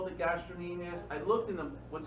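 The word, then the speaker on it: gastrocnemius: called it this um the sea is silent all right so um I mean you can do it for yourself so you don't forget the see gastrus people look at you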